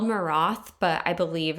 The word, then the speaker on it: Maroth: Or it's spelled Maroth, but I believe it's pronounced Moreau.